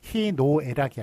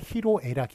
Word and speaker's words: 희로애락: 이런거 말씀드린다 고 했죠 그래서 희노애락이 아니라 희로애락이 라고 뭐가 잘못된 발음 입니다만 그거를 오히려 그것만 맞게 한 예가 되겠습니다 희로애락이 맞고 희노애락 틀립니다 그 다음에 토론 의논